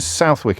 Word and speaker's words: Southwick: John's in Southwick in Sussex. Did I pronounce that correctly?